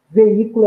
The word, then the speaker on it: veículo: e proparoxítonas e não veículo é uma proparoxítona porque a sílaba tônica é a antepenúltima sílaba a atenção à posição